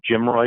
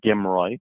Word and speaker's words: GMROI: margin return on investment it's pronounced either jim roy or gimroy and in some cases